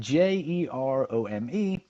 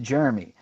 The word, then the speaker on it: Jerome: name well it's spelled je r om e which is pronounced Jeremy not Jerome like I've been calling him all damn day and